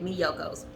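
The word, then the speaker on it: Miyoko's: yocos excuse me mediocre let me pronounce it correctly right there on the back me yokos and this is just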